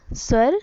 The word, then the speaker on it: स्वर: उसे स्वर या स्वर कहते हैं. ठीक है. स्वर जनरली प्रोनाउंस एज स्वर इज ए संस्कृत वर्ड.